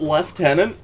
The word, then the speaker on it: lieutenant: lives suck anyway yeah why do you pronounce it left there's no f captain and everyone I've